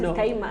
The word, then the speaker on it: Kayima: muganda is like oh you're actually kiman not Kaa you know because that's how was pronouncing it pronounce ka ka in of ka yeah I'm like it's Kaa they're like no that is Kaa I'm like it's my name Kaa yeah then there's like